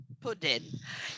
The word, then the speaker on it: pudding: explain this pronunciation, because a lot of people, they say pudding because you got the U, but actually this is one of the endless exceptions of the English language, because this is pudding.